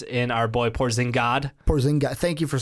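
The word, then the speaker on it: Porzingis: Porzing God. Thank you for saying it right. By the way, everyone keeps saying that wrong. It's like they put a giss at the end. It's porzing. Porzing.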